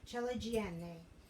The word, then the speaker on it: ciliegine: But we're using cherrier sized tomatoes, so we're going to use the ciliegine, I have to say it correctly, ciliegine, which are the larger of the balls of mozzarella.